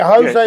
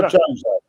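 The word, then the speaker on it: José: Is it Jose or Jose? It's Jose because in Portuguese they use the J and they pronounce it a J, but in terms of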